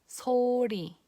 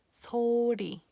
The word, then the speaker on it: 소리: Okay, now if the sound is in the middle of the word, then you pronounce it li, li. 소리, 소리.